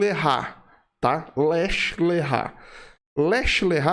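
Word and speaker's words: לך לך: na seguinte forma né Oeste o errar tá lech lechá Leste e se escreve assim l e k h traço lkh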